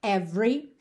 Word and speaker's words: every: interessante esse aqui porque 99,9% das vezes que a gente vê a palavra every esse é do meio é mudo ou seja do v a gente vai direto para o r é OK então aqui teremos excepcionalmente Esse é do Meio não só aparece como ganha até um certo destaque quase sempre